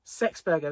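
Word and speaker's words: Sexburga: And the abbess that was in there, her name was Sexburger. It's true. It's true, right? It's pronounced Sexburger.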